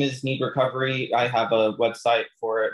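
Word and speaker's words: Knead Recovery: instagram is me and like needs like needing dough can you spell that out for some people yeah it's a k n e a d recovery um yeah instagram or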